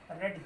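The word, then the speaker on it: read: और ये ध्यान देना है कि रीड हमारा फर्स्ट फॉर्म होता है, सेकेंड थर्ड की स्पेलिंग सेम ही होती है, हम उसका प्रोनाउंसिएशन जो चेंज करेंगे वो रेड ही रीड करेंगे।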